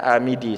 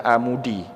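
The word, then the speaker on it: الآمدي: ada karangan Imam amidi sebagian orang bacanya amidi sebagian orang lagi bacanya amudi Boleh kedua-duanya ada orang yang baca Imam amidi boleh bacaannya imamu di juga boleh Sama juga seperti Tirmidzi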